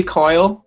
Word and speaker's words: Kyle: let's start with connor carl and then kevin please hi my name is actually coyle it's spelled k-y-l-e we come from ireland